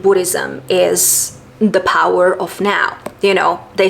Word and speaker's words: Nao: characters is now because you spell it as n a o but when you pronounce it in English you actually say now that sounds like you know now so honestly when you